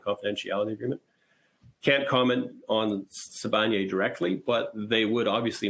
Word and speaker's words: Sibanye: Why hasn't Sibanye bought you out? Pardon me if I mispronounced that. No, it is Sibanye. Sibanye.